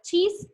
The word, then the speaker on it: cheese: con hasta la palabra cheese pasa lo mismo esta é no tiene sonido como no tiene sonido nos basamos solamente en el que se pronuncia está dicho listo tenemos entonces